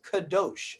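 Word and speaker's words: kadosh: your lifestyle be separate as kadash or some would pronounce kados okay that does not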